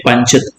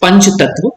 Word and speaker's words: Panchatattva: This is the correct pronunciation, so you remember the spelling also. If you say Pancha, correct pronunciation is Panch Tattva, but you remember as a Pancha Tattva.